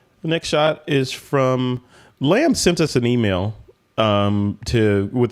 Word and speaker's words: Lamb: The next shot is from Lamb. Sent us an email with the correct pronunciation of his name, and he said his name is pronounced like what sounds like in English as lump.